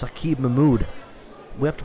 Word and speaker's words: Saqib Mahmood: It's Saqib Mahmood. We have to pronounce it like he wants us to. Saqib Mahmood.